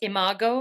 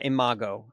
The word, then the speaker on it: imago: Do you, and it's pronounced imago, is that right? Yeah, imago.